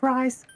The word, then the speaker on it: Rise: It's pronounced rice.